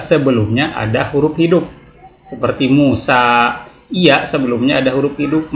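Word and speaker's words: موسى: Seperti Musa, iya sebelumnya ada huruf hidup, maka seringkali ini dimatikan huruf iya-nya ini ya, sehingga dibacanya Musa, enggak Musayu. Al-Mustafa, tidak Al-Mustafayu.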